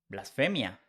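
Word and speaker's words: blasfemia: We change Y for IA, blasphemy becomes blasphemia. This is another good trick in pronunciation. When you see PH in English, it becomes F in Spanish. The pronunciation is the same, but spelling is different.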